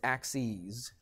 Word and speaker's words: axes: doesn't it what's the plural of axis anybody know it's axes okay this is the plural I'll put PL for plural so the plural for if I have two axes okay I don't usually pronounce the E that that big but axes okay so